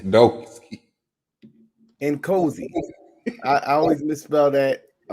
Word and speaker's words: Nkosi: An 8 and a 9 for the opening round for Rio Noski. I'm sorry. He said Noski. Nkosi. I always misspell that.